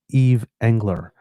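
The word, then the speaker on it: Yves Engler: not to be, is Eve Engler. And that's not Eve, E-V-E, but for the French pronunciation of Eve, Y-V-E-S.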